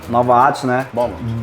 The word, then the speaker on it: Beaumont: Beaumont . Beaumont ? Yes, it's pronounced "Balmont".